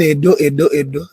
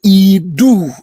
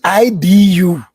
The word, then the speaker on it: Edo: Now, the word everybody is calling Edo is a mispronunciation. The word you are calling Edo in English, the EDO is Idu. Originally IDU or IDUU, not Edo, Idu.